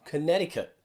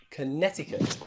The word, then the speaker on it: Connecticut: sea the state of connecticut connecticut okay in there we don't pronounce or at least americans definitely don't pronounce that letter c they don't say connecticut